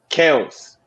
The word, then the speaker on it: Kelce: But technically it's pronounced Kels.